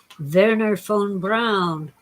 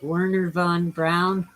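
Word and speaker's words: Wernher von Braun: know rocket scientists like venar phone brown or as we americans say it werner von braun don't worry about world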